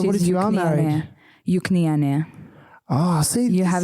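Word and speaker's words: Juknytė: Juknyte. Yeah, that's pretty good. Juknyte. Juknyte. Because why we pronounce as like E.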